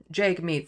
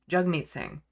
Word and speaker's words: Jagmeet Singh: name, because he said, think jug like hug.